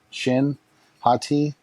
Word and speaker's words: Shin Hati: Shin Hati.